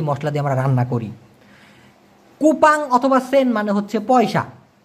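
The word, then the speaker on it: kopek: যেমন মালয়েশিয়ান ভাষায় কোপে একটা একটা জায়গায় এটা একটু খেয়াল করে দেখুন তো যারা ক্লান্তানে থাকেন বা ত্রেঙ্গানোতে থাকেন তারা এই ব্যাপারটা জানতে পারবেন। দেখুন কে ও পি কে উচ্চারণটা হচ্ছে কোপে। কোপে।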